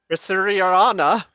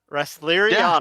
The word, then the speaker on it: Resleriana: Risuriana. I think I pronounced that correctly. That is a mouthful. Yeah, it's Resleriana. Resleriana.